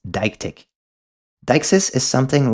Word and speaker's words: deictic: Now, my intuition tells me to pronounce this word as , but apparently the correct way to say it is .